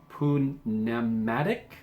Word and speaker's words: pneumatic: But in this case, I'm pretty sure it's pronounced where you actually pronounce the P.